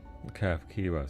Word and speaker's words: Kafkiwa: Kafkiwa, so that's how you say it. The H is an F sound.